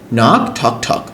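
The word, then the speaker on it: knock: N knife knife মানে চাকু মি মানে হাঁটু নাক ঠক ঠক তো কে এর উচ্চারণ হয় না যদি কে এর পর এন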